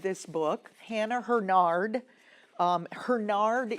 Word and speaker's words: Hurnard: book, Hannah Hernard, um Hernard is the way I've heard it pronounced. I don't I don't um I don't have an absolute lock on that pronunciation, but as far as I know, that's correct.